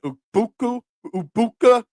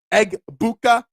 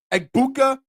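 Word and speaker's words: Egbuka: Ubukua. Eggbuka. Eggbuka.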